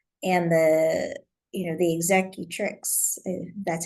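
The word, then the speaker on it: executrix: just a will and the you know the exact tricks that's how you say it yeah um didn't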